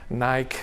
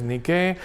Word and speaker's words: Nike: Chanel de bogue hizo anuncios de nicke Nike no pronunciado norteamericano pero como saben es una palabra griega que significa Victoria y que es nicke eh Pepsi en fin